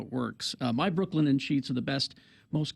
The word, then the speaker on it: Brooklinen: Brooklinen Sheets named the winner of the best of online bedding category in Good Housekeeping.